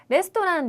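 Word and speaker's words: レストラン: 조를 하는데요 이렇게 응 한국어에서 한국인들이 박을 제대로 세지 않고 넘어갈 수 있는 단어들 있죠 그런데 여기에서는 응까 한 박자로 꼭 세 줘야 예쁜 발음이 된다는 거 그래서 여기서도 레스토랑은까지 해서 다섯 박자로 발음을 하시는게 훨씬 더 좋은 발음이 될 것 같네요 그래서 레스토랑 데스네 멋진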